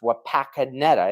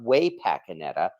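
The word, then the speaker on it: Wapakoneta: although my understanding is the city itself is pronounced wapakaneta it's not way pakaneta uh in Ohio so I don't have uh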